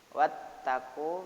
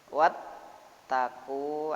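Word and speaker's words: وَاتَّقُوا: Wattaqu berarti kalau pembacaan tajwidnya baca idgham. Setiap ada huruf yang disabdu pasti ada penekanan satu huruf. Wattaqu ada penekanan, ya, ada ditekan. Ya, ada penekanan. Karena bacanya idgham, huruf yang berganda harus ada tekanannya.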